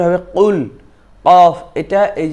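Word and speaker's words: قُلْ: উচ্চারণটা হবে কুল, কফ। এটা এই যে জিহ্বার গোড়া থেকে একটু সামনের দিকে বেড়ে জিহ্বার গোড়া সহ উপরের দিকে তালুর সঙ্গে লেগে উচ্চারণ হবে কফ, কু, কুল, কুল, কুল।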